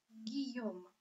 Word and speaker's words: Guillaume: Буква сочетания Ж, И дает нам звук Г. Поэтому мы прочитаем Гийом. Буква Ю здесь вовсе не читается. Она нужна нам только для того, чтобы мы трансформировали из Ж в Г. Гийом. И на всякий случай хочу вам напомнить, что буква сочетания И, 2, Л читается как И.